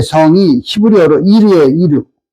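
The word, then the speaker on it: עיר: 가인이 성을 쌓고 할 때 성이 히브리어로 이르예요. 이르. 발음을 이르라고 하죠.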